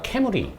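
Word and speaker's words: 冠: 근데 일본에서 왕관의 그 발음이 아마 캐무리.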